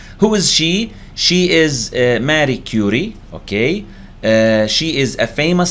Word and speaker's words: Marie Curie: Marie Curie هكذا ينطق اسمها Marie Curie and she is a famous scientist وهي عالمة مشهورة.